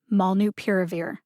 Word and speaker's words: molnupiravir: schwa vowel uh and the last syllable is veer like a drunk driver veers left of center mall new piravir malnu piravir put the primary emphasis on the syllable pier